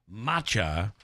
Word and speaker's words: matcha: so uh that is um I've written a pronouncer down so I don't screw it up now it's matcha green tea matcha latte Macha matcha man okay you could do it that